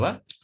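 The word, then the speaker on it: は: Dibacanya hurufnya itu h, tapi biasa dibacanya wa ya.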